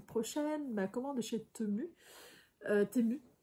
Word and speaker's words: Temu: Temu. Je crois qu'on dit Temu. Timu, on dit même, je crois.